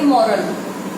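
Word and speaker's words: morale: इसको हम पढ़ेंगे मॉरल, राइट? इसको हम पढ़ेंगे मोराल। तो एक ई लगने से बहुत डिफरेंस आ जाता है चिल्ड्रन, मॉरल एंड मोराल।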